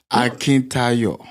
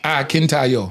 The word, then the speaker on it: Akintayo: Tell me how to say it. Akintayo. Akintayo. Yeah, Akintayo. He told me to say it like I'm saying. Nigeria. He actually did well. Yeah, he did. Akintayo. Yes, Absolutely. He said, he told me, he tried to teach me to say it like I'm singing.